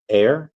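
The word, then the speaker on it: Ayr: name as IR Blues could you pronounce like this air oh it's just air okay yeah no problem there uh Airs of town in Scotland Scotland I've got away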